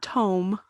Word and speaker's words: tome: You're thinking of tomb, not tome. Although to some people who pronounce tome like tomb, Dwayne.